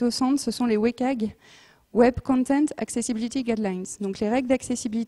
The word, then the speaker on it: WCAG: Donc, c'est Web Content Accessibility Guidelines, qui se prononce WCAG, si vous entendez WCAG, c'est la même chose, qui a été traduit,